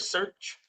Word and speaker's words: Shurch: I am the founder of search uh like it's pronounced like s e a r c because I believe we're all searching for something right searching for love